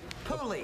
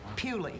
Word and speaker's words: Puli: Puli. A Puli? Yes, Okay. people who don't like the breed pronounce it Puli. Puli. Well, now I'd much rather have him called a Puli.